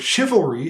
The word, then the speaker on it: chivalry: Standard English spelling conventions so the word chivalry having a sh sound but a CH spelling actually follows the French spelling conventions not the English ones and cello is Italian